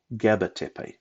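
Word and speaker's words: Gaba Tepe: based on the pronunciation it wasn't a k it was a g gabatipei and gabatipe was later to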